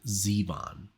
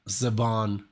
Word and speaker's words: Zevon: And it said Warren Zevon. Because I think I would have said Zevon or something. I would have like turned it into something French or something.